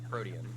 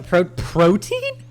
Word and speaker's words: Protean: Protean. Oh, yeah. Protein? What? Did you Protein. say No, like EAN. Like that's how you say it.